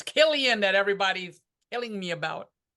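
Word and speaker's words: Cillian: Murphy I think we all know how to pronounce Murphy it's kill ion that everybody's telling me about let's see I'm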